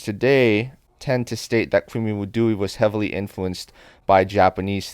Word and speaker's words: Kwimi Wudui: theater, but one of the most famous is Kwimi Wudui, or Kumi Odori as it's pronounced in Japanese. Western and Japanese scholars today tend to state that Kwimi Wudui was heavily influenced by Japanese theater, particularly No,